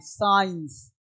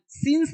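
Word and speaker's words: science: आई साइंस सिंस नहीं बोलते।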